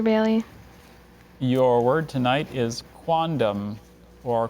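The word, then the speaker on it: quondam: ashrita hi Dr Bailey your word tonight is quantum or quandam it means having been formally a formerly sorry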